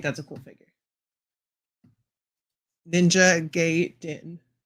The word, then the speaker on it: Gaiden: Ninja Gay Den. Ninja Gay Den. That's how you say it.